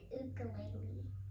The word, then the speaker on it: ukulele: And how do they pronounce it in their native Hawaiian language? I think ukulele. Ukulele. Yeah, ukulele. But in English, we have made it common to pronounce ukulele.